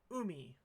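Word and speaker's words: うみ: You tell me how this is pronounced, please. It means ocean. So how would you say it? That's right, umi.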